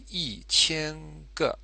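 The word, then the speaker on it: 一千: you'll notice up here the tone for e e which is normally first tone actually becomes fourth tone because the following character the following syllable is the first type so e chen and then here with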